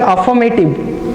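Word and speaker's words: affirmative: फिर से pronunciation अफर्मेटिव, ठीक है, यहाँ पे आर साउंडेड नहीं है, अफर्मेटिव, ठीक है, अफर्मेटिव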